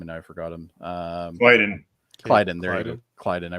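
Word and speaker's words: Klyden: Clyden. Right. I'm gonna have to put like that up in like the office area here and just put like a sheet of how to pronounce people. But anyway, Clyden.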